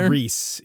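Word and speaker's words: Rhys: oh is is is Reese Reese I it's Reese yeah Reese specifically um interesting anyway I have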